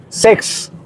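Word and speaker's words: sechs: Sex. Sex. ¿Cómo sonaría en español? Sex. Sex. No, suenan casi igual. Sex es 6. Sex. Y se pronuncia como sex.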